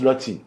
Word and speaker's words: Lotin: Oui, ça se prononce des deux manières, mais ça tombe bien que vous le prononciez comme ça parce que normalement ça se prononce Lotin.